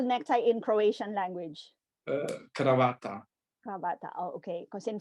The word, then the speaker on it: kravata: Cravata.